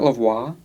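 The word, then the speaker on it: La Voix: Isn't it Lavois? Lavois. Lavo. Lavois. Don't get me confused. I'll say it wrong for three years. It's Lavois. Yeah, it's Lavois.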